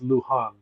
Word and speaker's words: Luján: Uh, my last name is pronounced Lu Han. So, the J H.